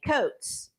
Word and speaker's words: Coates: Not Retta RETTA Coates. Right, coats of many colors.